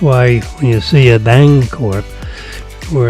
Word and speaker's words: Bancorp: So that's why when you see a Bancorp where it's a B-A-N-C-O-R-P, it's a soft C.